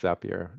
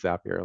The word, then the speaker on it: Zapier: Um, so most people go use, I think it's Zapier. I think it rhymes with happier is the thing that we learned one time. Um, Most people, you know, they go use Zapier.